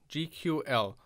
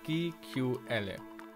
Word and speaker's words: GQL: When I first read the title, I mispronounced it as GQ. So a more German pronunciation, and I totally didn't get what it tried to hint at.